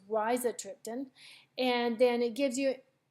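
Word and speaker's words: rizatriptan: Max Holt it's with Riza triptan so as you can see it gives you a pronunciation and I've been pronouncing it wrong it's Raisa triptan and then it gives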